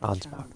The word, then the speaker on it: Ansbach: Truly, I should have asked Ansbach to impart his knowledge when I had Ansbach. That's how you pronounce it.